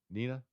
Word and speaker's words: Neenah: And then Neenah. Nina? Yeah.